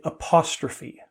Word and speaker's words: apostrophe: When there's E on the end, I say that. Well, yeah, you do.